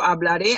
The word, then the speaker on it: hablaré: So, hablaré, hablarás, hablará, hablaremos, hablaréis, hablarán. Notice that I pronounce the last syllable, the red one, is stronger, see?